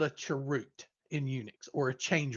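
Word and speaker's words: chroot: code so that's a change root or charute that's how it's often pronounced so then we fast forward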